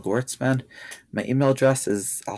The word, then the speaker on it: Gewirtzman: So I have a Psychology Today um under my name, Gotesman. My email address is I'll spell it out but it's kgoetzman.